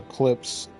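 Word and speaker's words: Klipsch: I'll link you the clips now. It doesn't look like it's pronounced clips, but that's how you say it.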